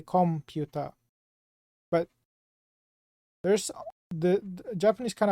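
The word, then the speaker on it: コンピュータ: apply to Katakana is computa you don't say comput you say computa but there's the Japanese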